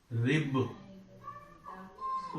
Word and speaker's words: ribs: One more example is rib. So make it plural. Now it becomes ribs. Actually, we pronounce it as s, not s. It is pronounced as z.